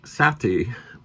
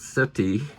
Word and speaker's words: Sätty: Poe there's his name it's pronounced Sati not Sati but acquaintance of mine